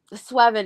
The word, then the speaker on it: Sweven: I was happy that Sweven is pronounced Sweven because Nana is actually 7. So it's like in Japanese. So it's like it's 7 with a W.